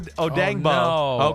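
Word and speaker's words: Odeyingbo: right now uh I mean dial uh o odango okay I said it I said it right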